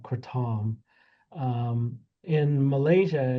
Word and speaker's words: kratom: There's the general consensus in Southeast Asia, particularly in in Thailand is that it's called kratom.